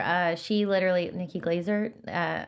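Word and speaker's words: Glaser: Nikki, I mean, obviously she's already touring, but Nikki Glacier, uh, she literally Nikki Glazer, uh, how do you say her last name?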